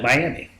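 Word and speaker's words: Mayaimi: the Colusa called it Miami yeah like spelled completely different but essentially pronouncing it almost near to the word Miami really um and then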